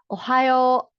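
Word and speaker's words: おはよう: Ohio is good morning. So long o sound siya no? Ohio.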